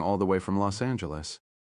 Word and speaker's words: Angeles: She didn't say anything about them coming all the way from Los Angeles. She said Angeles with a hard G.